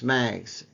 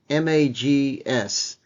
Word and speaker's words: MAGS: symbol on the New York Stock Exchange is mags M A GS mags I'll spell it phonetically Mike Alpha go Sierra and we